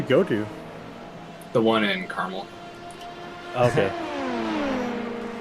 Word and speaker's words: Carmel: to the one in Caramel okay it's funny how people not from Indiana can't pronounce that they call it Carmel maybe you ever noticed